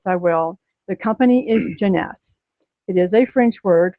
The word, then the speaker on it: Jeunesse: right now yes I will the company is Jeanette it is a French word for youth they're